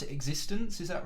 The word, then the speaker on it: x6tence: Do I pronounce it x6tence?